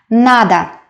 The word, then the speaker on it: надо: do something nada nada the first syllable is stressed that is why last or is pronounced as a nada nada again mores la